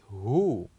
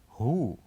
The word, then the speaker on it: who: with number three is the word who oh so what is the silent letter of this word who well the silent letter of this word is the letter W letter w and let's